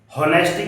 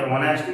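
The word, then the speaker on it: honesty: ऑनेस्टी की spelling क्या होती है? होनेस्टी क्यों नहीं पढ़ते? ऑनेस्टी क्यों पढ़ते हैं?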